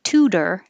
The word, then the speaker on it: tutor: The T will change to D when it's between two vowels and in the unstressed syllable. So tutor is a good example of that. The second T is in the unstressed syllable, so it can change.